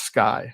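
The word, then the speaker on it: SCCAI: So the acronym is seci and it's pronounced sky as in the sky is the limit.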